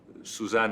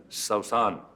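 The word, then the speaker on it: سوسن: And first time I was introduced to Suzanne as Sausan. He said that's the actual pronunciation of the name, Sausan, which is the Arabic pronunciation.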